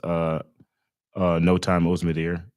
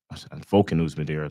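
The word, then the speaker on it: Volkan Özdemir: Bogdan Guskov in his debut didn't look very, very well in that fight against No Time Ozdemir, Volkan Ozdemir, to say it properly.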